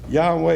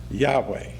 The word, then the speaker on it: Yahweh: page 53 you say no one knows how yhw H was pronounced but it is usually vocalized as Yahweh this despite the fact